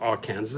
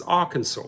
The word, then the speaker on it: Arkansas: always say Arkansas the people so it's not Arkansas it's Arkansas so I get screwed up with pronunciations of a lot of US cities and